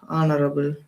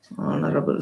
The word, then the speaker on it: honorable: regarded as uh an honorable man. See and again here even though H is a consonant H is silent.